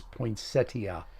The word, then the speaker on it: poinsettia: Sandy Holtzmiller is saying is telling us we're saying it wrong. It's poinsettia. You guys know what?